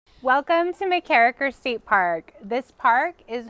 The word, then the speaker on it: MacKerricher: our next stop is going to be MacKerricher State Park, just north of Fort Bragg. And I let Travis say it because I have a hard time pronouncing it. MacKerricher. MacKerricher.